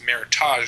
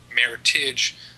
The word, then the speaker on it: Meritage: it's actually not pronounced meritage it's pronounced meritage just like rhyming with heritage and a meritage is